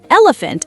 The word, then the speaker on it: elephant: Elephant has the F sound in the middle.